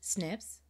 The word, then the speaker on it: SNPs: thus share with relatives snips snps pronounced snips stands for single nucleotide